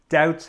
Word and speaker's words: doubts: clarify doubts clarify doubts be careful doubts has a silent letter the silent letter is the B clarify doubts and this